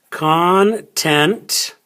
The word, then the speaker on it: content: stress the first syllable this one is content content so the stress is on the second syllable content content now this